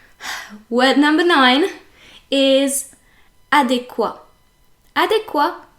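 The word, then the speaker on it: adéquat: word number nine is adequa adequa ends with a t and everyone pronounces the T but the t is meant to be silent so French people often say adequate instead of saying adequa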